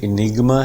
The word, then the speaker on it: enigma: British pronunciation में इनिग्मा है. British RP हम फॉलो करते हैं, British received pronunciation we follow, तो इसे इनिग्मा ही पढ़ेंगे. इनिग्मा ना साउंड पे बिल्कुल अप है, यहाँ पे बिल्कुल यहाँ से उठेगी साउंड ई. दिस इज इनिग, एकदम ऊपर जाएगी, फिर ये फॉल डाउन करेगी. इनिग्मा ना साउंड पे stress. This is primary stress और 2 सिलेबल इसमें है.